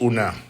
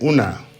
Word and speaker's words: una: uh so it's uh and it's pronounce Una I listened to an American speaking pigeon recently and he was saying Una now unai says that's it it's Una the emphasis the stresses are important so you and yours